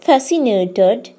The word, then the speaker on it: fascinated: for example I am fascinated by rainbows here when we pronounce the word fascinated C sound is not there that means letter C is sign silent however there are some